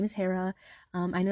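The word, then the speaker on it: Hira: yes my name is h-i-r-a my name is Hera I know it's pronounced differently in some different areas but that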